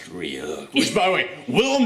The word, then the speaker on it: Ryuk: It's like, hey, you mispronounced my name. It's Ryuk. It's actually pronounced Ryuk.